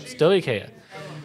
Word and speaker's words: Stoicheia: I keep messing up. Stoicheia. Oh, that's how that's pronounced?